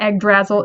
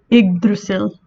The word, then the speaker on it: Yggdrasil: just so you know if i didn't look up the pronunciation i probably would have called this egg drazzle so it is not egg drazzle it is what type of tree is what type of tree is iggrasil just kind of fun